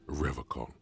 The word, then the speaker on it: Revachol: He pronounces Revocol with a hard K, unlike other people. Yeah. You said Revocol? I like to pronounce it the hard way. The old way. The Vespertine way.